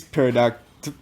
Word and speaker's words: pterodactyl: So that flying space pterodactyl. Pterodactyl. You know what starts with the P, so. The P is silent.